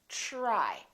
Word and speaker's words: try: So the TR together make this sound almost like a CHR, almost like ch, but it's a softer one. It's ch, try, try.